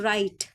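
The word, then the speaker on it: right: इसका स्वर नहीं आएगा जैसे आर आई जी एच टी तो राइट आई आई का स्वर आएगा राइट और बस टी का स्वर आएगा जी एच जो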